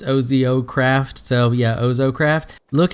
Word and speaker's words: OzoCraft: and it is called ozo craft I guess I'm pronouncing that right it's Ozio craft so yeah ohso craft